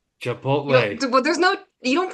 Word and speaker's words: Chipotle: are you watching chip chipot chipot Ronnie you do it too yeah chipot chipot that's not how you say that how do you say it it's Chipotle Chipotle well there's no you